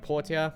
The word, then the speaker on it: Portia: My Time at Portia, or Porsche, depending how you pronounce it.